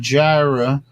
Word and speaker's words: gyre: The 4 together forming a clockwise circulating system of ocean currents termed by North Atlantic gyre. I'm just pronouncing it that way. It's Gyre.